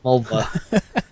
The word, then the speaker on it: Mulva: It rhymes with a female body part. Mulva.